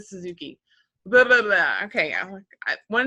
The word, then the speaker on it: Suzuki: and the Suzuki like the motorcycle, like you like to say.